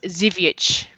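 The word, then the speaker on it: Żywiec: It's not the good Zvike then. Can she pronounce the name of it? I missed it. It's Zivic. Okay.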